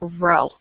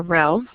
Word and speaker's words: rho: But in your population, you use the Greek letter rho. So let me write it down so you know what I'm trying to say. So it's the Greek letter rho.